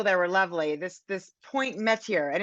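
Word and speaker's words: Mettier: This Point Metier, and it's pronounced like the French way would be métier, but of course the residents pronounce it Metier, which is, again, sort of adds to this sort of the ambiance of this group.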